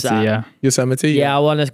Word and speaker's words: Yosemite: I've always wondered how you pronounce Yosemite, that. Yosemite.